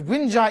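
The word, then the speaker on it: Wenja: figure out the pronunciation but wind ja even though it's spelled w.e nja however did you watch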